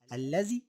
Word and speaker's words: الذي: وخلي بالك الذي نطقت باتنين لام ولكن كتبت بلام واحدة، الذي والتي والذين.